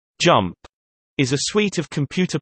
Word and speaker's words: JMP: JMP, pronounced jump, is a suite of computer programs for statistical analysis developed by the JMP Business Unit of SAS Institute.